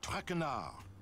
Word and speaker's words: Traquenard: It is Jean-Michel Traquenard. Jean-Michel Traquenard. Traquenard! Traquenard! Traquenard! Traquenard! Enough! Nancy, it's simple, you, just don't pronounce the D!